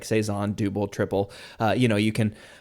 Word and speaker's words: Tripel: triple which is another Belgian trais style is pronounced triple not tripel so uh you know we just got to